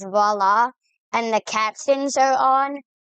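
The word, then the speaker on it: voilà: Is it just me or is va spelled like viola but just said differently?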